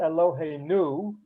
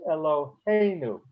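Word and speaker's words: אלוהינו: Okay, Eloheinu is a mil el word because it's not Eloheinu, it's Eloheinu, next to the last syllable.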